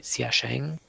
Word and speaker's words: Xiashing: Westport, Gao should be Xiaosheng, and Jene should be New Timbuktu. Okay, so Westport. Gao was what? Xiaosheng? Yeah, it is spelled X-ray, India, Alpha, Sierra, Hotel, India, Alpha, November, Golf, Xiashing.